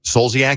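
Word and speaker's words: Kim Zolciak: Kim Coliaak. You know who she is? Uh Kim Soliaak. Siaak is how you say her name.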